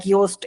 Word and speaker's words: Yoast: using a plug-in like Yoast SEO. Yoast y o a s t right it rhymes with toast.